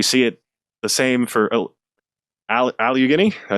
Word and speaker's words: Allegheny: We see it the same for Allegheny, did I say it right? Allegheny, yeah.